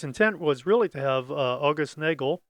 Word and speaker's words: August: Its intent was really to have August Nagel, perhaps that's pronounced August because he was German, to produce a 35mm